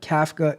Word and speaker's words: Kafka: Mitch says that no I haven't I haven't Kafka is a software it is CFA no kafa is spelled k a FKA a CF and it's